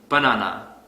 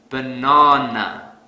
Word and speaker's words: banana: program here's another example let's say I pronounce this word has banana this is incorrect because I don't stress the second syllable so to fix this I will stress the second syllable really hard banana banana the sad